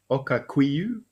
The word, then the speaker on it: Okakweo: So here's Okakweo, according to this scientific paper that I found, pronounced Okakwiyu. Okakwiyu.